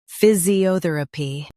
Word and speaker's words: physiotherapy: phys i o ther a py physiotherapy Stress o and keep ther light. phys i o ther a py physiotherapy Practice repeatedly and you'll soon be able to say this word perfectly.